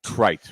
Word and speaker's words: Crites: grown nut was crite Crites rhymes with right and crite and